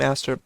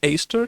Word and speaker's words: Aster: Wait, it's Aster? No, it's not. It's Aster. You only pronounce it like its capital form when there's a vowel followed by a consonant followed by a vowel.